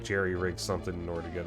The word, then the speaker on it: jury-rig: Unless I like jerry-rig something in order to get a... Is it pronounced jerry-rig or jury-rig? I think it's jerry-rig.